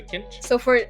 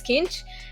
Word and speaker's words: Kincső: Okay, so kinch. So now it's kinch, and the O, which has like an accent, it's ö. So you kinchu? have kinche, yeah, kinchu. Around that.